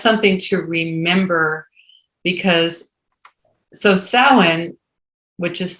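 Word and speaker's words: Samhain: and and that's something to remember because so sowin which is spelled s-a-m-h-a-i-m is the time when the Celts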